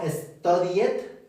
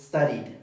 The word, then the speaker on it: studied: Studed no studiet. Es studied. Studied.